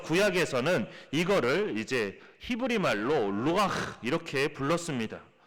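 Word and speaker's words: רוח: 되는 것입니다 그래서 구약에서는 이거를 이제 히브리 말로 루가 이렇게 불렀습니다 발음이 좀 괜찮죠 그래도 좀 제가 보기에도 발음이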